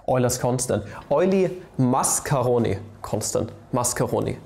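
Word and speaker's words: Mascheroni: constant oily mascarone constant mascarone constant right not macharoni not uh macaroni this time i pronounce it correctly i've seen your comments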